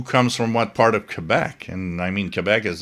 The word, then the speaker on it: Quebec: Yeah, it is Quebec. If you want to pronounce it right and you want to impress everybody, which I guess will not happen, uh, you stick with Kebec.